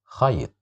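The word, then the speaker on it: خيط: Here we have the letter Kha controlled by the sound Fatha. So we will say it like that. Kha, khayt, khayt, khayt, which means a string.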